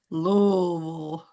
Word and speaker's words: Louisville: Karen, you're from Louisville. Is that correct, Dr. Dr. K? Close. It's called Yeah. Pronounce it. Lolville.